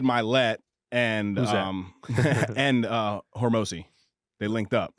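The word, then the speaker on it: Hormozi: and Hormozy, they linked up. Can you say his name right? A Horms, Hermosi. Hormozy.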